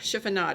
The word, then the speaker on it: chiffonade: a technique called a chiffonade chiffonade chiffonade is the correct way to say that and what it is